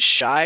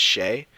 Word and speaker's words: Shai: Is it Shy or Shay? I hear people say it differently. I believe it's Shay, but it is spelled like you would say it Shy, kind of. You know what I mean? And a lot of people do say it Shy, so I don't know.